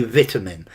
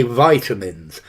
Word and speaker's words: vitamin: stresses says um Patricia vitamin or vitamin not notice Lando I as a Brit I'm going to say vitamin but as an American Americans say vitamins vitamins highlights good word